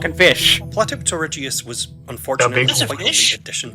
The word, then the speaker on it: Platypterygius: Completing the marine reptile trio, the third animal I'll be discussing in this video is the Ichthyosaur Platypterygius. Platypterygius.